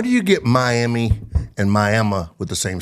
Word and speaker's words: Miami: the 29th we're in miam not to be confused with Miami even though it's spelled that way miam Oklahoma uh on